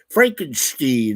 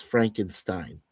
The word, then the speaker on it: Frankenstein: So with the Steen, part, or Stein, or things like that. So, and I think when Mary J. Shelley first came out with the book, she pronounced it, I believe, as Frankenstein. Yeah, with the Stein at the end.